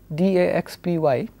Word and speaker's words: DAXPY: Now, the next example I'm going to look at is something which I will refer to as DAXPY, and I will pronounce this as DAXP.